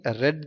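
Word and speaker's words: read: ஐ ரெட் the book அப்படின்னு வாசிக்கணும். இது ரீடுன்னு வாசிச்சிங்கன்னா கண்டினியூ ப்ரெசன்ட் டென்ஸு, அது ரெட்டுன்னு வாசிச்சிங்கன்னா ப்ரொனவுன்ஸ் தான் வித்தியாசப்படும். ஸ்பெல்லிங் என்னமோ ஒன்று தான், ரீடு மட்டும்.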